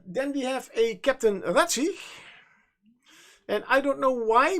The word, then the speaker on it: Razig: Captain ratzi yes Captain ratzi um then we have a captain ratzi and I don't know why but I I pronounce it the German Way as the the Z is pronounced as a TS Z like a little